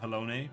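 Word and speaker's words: Halone: if alone is kind it is pronounced pronounced hellone but it's lame so i refuse to say helloni if alone is kind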